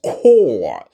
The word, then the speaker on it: corps: But it's pronounced as corps.